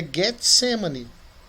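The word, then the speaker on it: Γεθσημανή: A pronúncia correta em grego é Getsemane.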